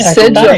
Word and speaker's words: Sigil: I Sigil. believe it's a soft G.